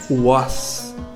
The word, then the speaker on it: was: Sua pronúncia é was, was, lembrando que o W tem som de U, o Aleph de um A longo e o S, was, was.